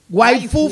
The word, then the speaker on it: waifu: así como se oye, W-A-I-F-U. Waifu Fest. Foo Fest, no, F-U-A-B-C-D-E-F, F-U. De hecho, es algo extraño. Waifu. Porque la palabra es como esposa en inglés, de hecho, pronunciada como en japonés.